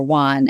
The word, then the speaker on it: Van: a town there called vanan or Juan as it's pronounced the V is not pronounced and that was the